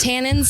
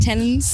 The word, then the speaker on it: tannin: talked about tenants okay that's pronounced tannin not tenons oh my God is